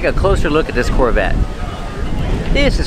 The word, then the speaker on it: Corvette: let's talk about pronunciation Corvette the te is a stop T the E is silent Corvette Corvette pronounce the V with